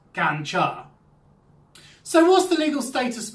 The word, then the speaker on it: ganja: what you're asking for the drug is known as ganja and it's pronounced ganja so what's the legal